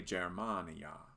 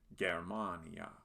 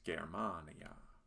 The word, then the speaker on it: Germania: we have a g which in latin is always hard so we shouldn't say germania but germania this word is also another good example of the long a sound some might want to say germania but it's germania here is another word